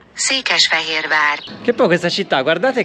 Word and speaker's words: Székesfehérvár: Quella riascoltate insieme e pronunciatelo. Székesfehérvár. Székesfehérvár.